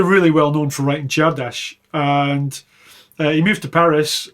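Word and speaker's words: Csárdás: Next up we have Czardas, which apparently is the proper way of pronouncing that. I was told by some Hungarians from Hungary that's how you say it.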